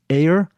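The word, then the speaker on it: Eyre: The director is Chris Ayer. I think that's how you pronounce his name. E Y R E.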